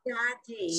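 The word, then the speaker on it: צדי: But the letter is Sadi. What is it? Sadi? Sadi, but it has the sound of a TZ.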